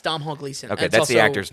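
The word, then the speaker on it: Domhnall Gleeson: Yeah, it's Dom Hall Gleason.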